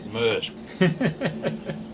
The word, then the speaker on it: Maersk: I said Maersk.